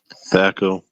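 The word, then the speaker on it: THAC0: Thaco. So the Z just disappears in that. Oh, it becomes a 0. Yeah. The 0 is pronounced like an O.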